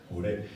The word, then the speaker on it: MURE: Como me han enseñado que la pronunciación es así, con el acento al final, en la última, MURE.